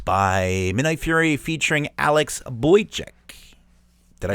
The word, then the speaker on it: Boychuk: And that was Shadows of Doubt by Midnight Fury featuring Alex Boychuk.